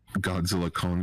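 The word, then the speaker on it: Godzilla x Kong: With the release of Godzilla Kong: The New Empire, yes, the X is silent.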